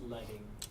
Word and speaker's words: leading: It's pronounced leading. Leading, thank you.